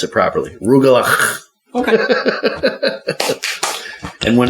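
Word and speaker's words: rugelach: rug it's a Jewish pastry it's called remember rugal that's how you that's how you pronounce it properly rugal okay and when it's done properly I still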